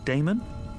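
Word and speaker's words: Daemon: a e m o n how do you pronounce that Damon if you prefer and this address I guess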